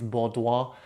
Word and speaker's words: Baudoin: I looked up the pronunciation. It's Baudoin technique.